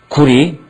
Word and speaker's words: 구려: 새벽을 밝혀올려 검을 여자인데 국호로 할 때는 리로 발음합니다. 구리 꼬리 까오리 꺼오리 할 때 리자로 항상 끝나거든요.